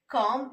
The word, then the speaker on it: calm: Okay, calm and palm. So L is silent there.